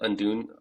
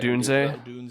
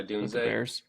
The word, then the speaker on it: Odunze: Definitely Marv and probably is it Undun? How do you say it? Odunze? Yeah, Odunze.